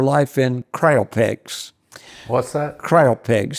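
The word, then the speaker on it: cryopeg: g uh if you cry pegs yeah uh I think a Copeg it's also pronounced Copeg uh so uh but it's spelled like cryo okay uh and what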